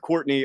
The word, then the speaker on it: Courtenay: I spell my name a little bit differently. It is pronounced Courtenay, but it's spelled like Courtenay.